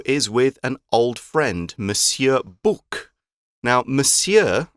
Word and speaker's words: Monsieur: spelt with an N but it's pronounced Monsieur is the French Way of saying mister and it's often written when you see it in a novel just as M with a period now